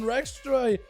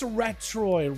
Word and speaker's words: Retroy: Cbus, last one over for Team 2, looking to drop down Rextroy. There we go. I called him Rextroy just now. It's Retroy. Retroy.